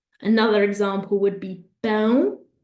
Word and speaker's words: pão: Another example would be pão, pão, nasal sound, that means bread, or pau, pau, which means wood, okay?